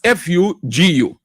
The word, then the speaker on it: fugu: They said Ghanaians are increasingly Ghanaians are increasingly wearing traditional fugu. That's how it's pronounced f u guu attai every every Wednesday.